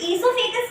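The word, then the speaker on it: esophagus: ओ ईसोफेगस, या कोई ओ भी प्रोनाउंस करते हैं, बट नो, इट इज ईसोफेगस।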